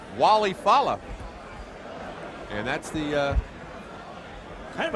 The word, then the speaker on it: Walle Falla: All right, well, Mark obviously taking the ethnic pronunciation, but he wants to be called Walle, Falla.